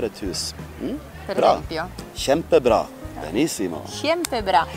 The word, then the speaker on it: Kjempebra: Kjempebra. Benissimo. Kjempebra. Oppure, ecco, KJ, sì. KJ. E MTI. Bra. Kjempebra. Si legge sh.